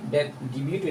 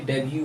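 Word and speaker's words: debut: ई डी यू टी ये डिबू नहीं है ये डेब्यू है किसी जगह कोई फिल्म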